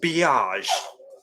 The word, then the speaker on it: beige: mauve thing that everyone does beiges and it's pronounced biage like biatch but it's biage mm-hmm yeah I